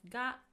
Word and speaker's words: が: It is pronounced as ga and it also can indicate existence.